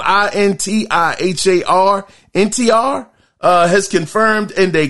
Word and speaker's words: Intihar: So in more news, Spider-Man 2 creative director Intihar, it's spelled I-N-T-I-H-A-R, Intihar, has confirmed in a kinda funny spoiler